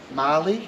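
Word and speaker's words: Mahle: How do you pronounce that? Marley. Okay, that's how I do it.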